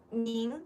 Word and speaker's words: 您: 您, the pronunciation is with an N.